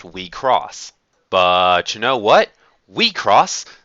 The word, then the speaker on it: WIXOSS: Right now, the common consensus is that the word is pronounced Wecross.